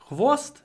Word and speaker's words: tail: tail tail is tail here we have an a sound before a l and usually when we have a before a l at the end of a word we add a syllable T ta ta tail a bushy tail tail